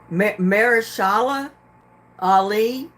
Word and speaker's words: Mahershala Ali: I can't even pronounce this person's name. Mahershala Ali was the first Muslim actor to win an Oscar.